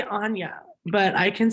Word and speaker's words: Anya: I'm full on Yorkshire from the UK, but no, we say it like Anya, but honey and all like they all say like Anya, and they say it funny.